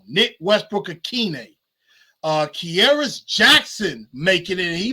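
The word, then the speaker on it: Nick Westbrook-Ikhine: Chris Moore, Nick Westbrook-Akina, I always say his name wrong. Nick Westbrook-Akine.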